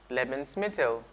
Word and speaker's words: Lebensmittel: this plane on your screen let's try the pronunciation together lemons metal lemons metal lemons metal its food stuff okay